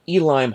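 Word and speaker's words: Uihlein: the Market Center in Elim Hall. I know it's kind of spelled like Ulim Hall, but that's German or Deutsch for you.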